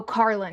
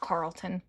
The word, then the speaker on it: Carlin: I fear some of those might have um Oh, Carlin, not Carlton.